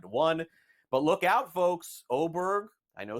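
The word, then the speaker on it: Åberg: but look out folks oberg I know spelled with an A but pronounced with an O looks to be one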